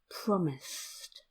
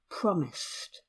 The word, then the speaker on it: promised: at the word promised promised it the IDI at the end is actually pronounced - - promised there are just two syllables promised again if you